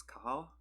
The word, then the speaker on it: Cathal: the fact that the pronunciation of the main character's name is Kahal, because I just didn't know K or Cathal was more like Kyle than Cathal.